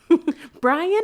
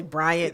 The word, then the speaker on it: Bryant: Brian or Bryant? It's really Bryant.